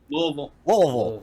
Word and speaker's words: Louisville: Louisville. So you gotta sound drunk when you say it.